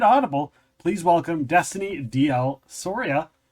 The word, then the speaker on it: Soria: those issues it's like it's like Gloria but Soria that's how it's pronounced yes you said it